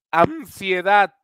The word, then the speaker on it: ansiedad: ahí está en mer ansiedad ansiedad ansiedad está en el en el en la sílaba daff y el intenté incluso